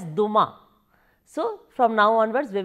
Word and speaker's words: Dumas: French authors in history Alexandre Dumas in French actually it is pronounced as Duma so from now onwards